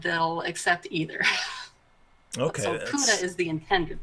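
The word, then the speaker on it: Pode: and they said that in Norwegian, this is pronounced Puda, but they've gotten used to so many people so many English speakers saying Pod that they'll accept either. Okay. So Puda is the intended pronunciation.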